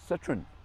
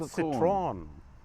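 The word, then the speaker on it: Citroën: Citroen, do you recognize the chevrons, as they call it?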